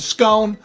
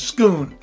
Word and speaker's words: Scone: the stone of scone I just think Stone and scone sounds better than stone is schoon I think Stone sounds a little like silly I know that that's the way you're supposed to pronounce it I'm sorry but Jacob